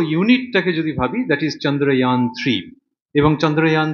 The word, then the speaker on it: চন্দ্রযান: চন্দ্রয়ান 3, ভারতবর্ষের এর আগে দুটো মিশন ছিল, চন্দ্রয়ান 1 এবং চন্দ্রয়ান 2। ইয়ান বলছি কেন, ওটা সংস্কৃত এরকমই উচ্চারণ।